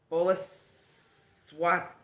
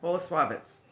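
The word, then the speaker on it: Bolesławiec: And it comes from an area of Poland called Boleslawiec. Okay, I messed that up. Boleslawiec.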